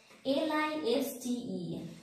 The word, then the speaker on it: listen: L-I-S-T-E-N, listen.